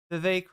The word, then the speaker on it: Vivek: It looks like we're doing the Vivek rhymes with cake.